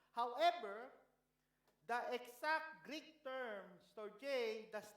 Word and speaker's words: storge: Story. Okay, the correct pronunciation is storge. Medyo storge. Okay, storge.